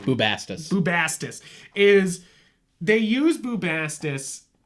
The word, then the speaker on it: Bubastis: Bubastis.